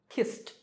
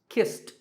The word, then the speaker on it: kissed: Number five, the last sound is s, which is unvoiced or voiceless, so kissed, kissed.